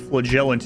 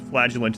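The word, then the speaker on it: Flagellant: You're one of those, but I can't forgive him for saying pronouncing it flegellant in Darkest Dungeon 2 after it was flagagulant in the first one.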